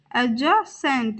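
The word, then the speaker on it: adjacent: दूसरा तरीका alternative alternative बगल में एडजेसेंट एडज सेंट यहां पर भी डी साइलेंट रहेगा और हम इसका प्रोनंसिएशन किस प्रकार करेंगे एडजेसेंट जीता वन वन पत्र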